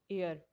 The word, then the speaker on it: heir: जैसे एग्जांपल्स हैं एन एयर। अब यहाँ पे जो एच है वो साइलेंट है, जबकि EIR एयर ये वारिस के लिए वर्ड यूज़ होता है।